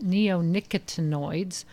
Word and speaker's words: neonicotinoids: And it's actually pronounced neonicotinoids or neonics.